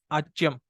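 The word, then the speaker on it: आज्यम्: means should offer oblation, agyam means ghee. Okay, some schools will pronounce it as ajyam.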